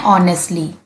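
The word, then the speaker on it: honestly: ऑनेस्टली। एच बच्चों silent रहेगा। ओ से बोलना है ऑनेस्टली।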